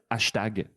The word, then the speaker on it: hashtag: Euh, on le prononce à la française, hashtag.